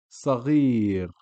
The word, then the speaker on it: صغير: And lastly, صغير. صغير. Sad, fatha, sa. Then ghain, kasra followed by ya makes Ghi. So it's not صغير or صغير, it's صغير. Short sound, sa, and then غير, صغير. Perfect, awesome.